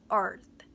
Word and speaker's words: earth: 이 발음하기 어려운데요. 쉽지 않은데요. 제가 사전을 들어보니 재생을 시켜보니까 얘가 굉장히 할 때 약간 여기가 지금 어디 힘이 들어가냐면요. 여기 안쪽 근육이에요. 이 피부 이 안쪽 근육이 약간 경직되는 느낌이 들어요. 이렇게 세게 약간 경직한 상태에서 소리를 빡 내줘야지 잘 들려요. 이 발음은 earth. water that falls to earth. 물인데 지구로 떨어진 물. rain, raining, rainy. earth. 이 요거 해주셔야 th로 소리가 들립니다.